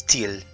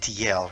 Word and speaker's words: Tiel: But over here in Tiel, I'm fairly certain it's Tiel. It's not TL, right?